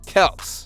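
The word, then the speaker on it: Kelce: the pronunciation of their name either your beloved Kelsey brother's last name is actually pronounced Kel but everyone called them Kelsey everywhere they went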